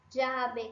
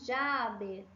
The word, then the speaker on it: llave: variação, eu daria uma dica para você de você usar a variação que acontece no México, que é essa variação aqui do di, llave, calle, pollo. Eu falaria para você escolher essa porque a pronúncia dela é a mais clara, ok?